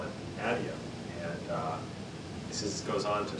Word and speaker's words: Adium: So I call it Adium. Some of the other developers call it Adium.